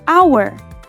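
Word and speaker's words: hour: Take the word our. It starts with the letter H, a consonant. So, it should be on team H, right? But wait, it's actually pronounced like our because the H is silent.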